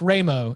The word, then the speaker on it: Ramo: He says, at the end, he said, the name is pronounced Ramo. Tom should understand because it's an Italian name.